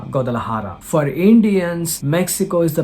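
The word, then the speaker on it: Guadalajara: I'm pronouncing it as godal laara that is J we should pronounce it as H like ha godal laara for Indians Mexico is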